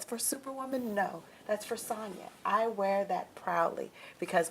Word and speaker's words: Sonja: And Sonja with the J. that's because I have to make sure people know. My mom wanted to be different. Yes. She didn't spell it with a Y or an I. It was with a J. But it's pronounced Sonja.